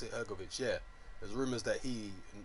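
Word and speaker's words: Hrgović: Yeah, Hrgovic, is that how you pronounce it? Hrgovic, yeah.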